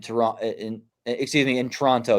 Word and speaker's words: Toronto: in excuse me in Toronto you don't pronounce the first o I believe right Toronto toron okay thank you Toronto but is it is